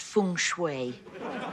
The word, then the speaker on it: Feng Shui: The beginner's book to Feng Shui. It's pronounced Feng Shui.